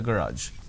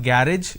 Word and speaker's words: garage: him to clean the garage it's not garage it's garage a student at an